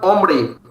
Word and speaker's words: hombre: a word starts with H, it is generally most of the time silent, but individually H is pronounced as Ache. For example, hombre.